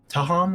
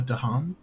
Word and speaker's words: Dahan: Tahan with a T. It's with a Dahan D. with a D. Yeah. Okay, Dahan.